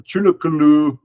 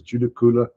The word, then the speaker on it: Judaculla: not literally him and judicula or chunakulu or chunkaloo tulikula different names the Western uh pronunciation is judicula different towns of good